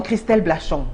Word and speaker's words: Christelle Blachon: et calé nous avons Christelle Blachon j'espère que j'ai bien prononcé bonsoir madame Blachon bonsoir félicitations parce que c'est pas souvent qu'on prononce bien mon nom merci merci alors Christelle